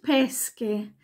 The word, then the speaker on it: pesche: SK ausgesprochen nämlich Peschke nicht verwechseln Pesche und Peschke das wird so oft verwechselt Pesche ist der Fisch und pesce sind die Pfirsiche dann brusketta das wird